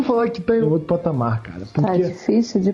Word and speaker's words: patamar: a Amazon pamar outro patamar com acento no a porque o m não o r no final não fica bom mas